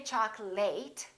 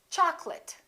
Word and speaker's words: chocolate: say chocolate and remember don't say choc late it's chocolate i'd like some chocolate in